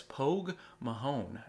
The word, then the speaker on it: Pogue Mahone: And they were started as Pogue Mahone, and I hope I'm pronouncing that right.